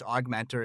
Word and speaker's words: OGMentor: and the show notes augmentor is spelled o OG Mentor pronounced aug Mentor I love the name